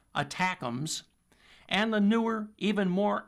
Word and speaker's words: ATACMS: Those include the ATACMS, short for Army Tactical Missile Systems, pronounced attackums, and the newer, even more accurate and even longer range precision strike missiles, or PRSM.